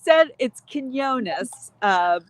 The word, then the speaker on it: Quiñones: It's Quiñones because my father's from Puerto Rico. So, it's got those strange letters that aren't English letters in it.